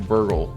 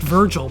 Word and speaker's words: Virgil: sounds cool no like if you're saying burgle I know it's pronounced Virgil but his name is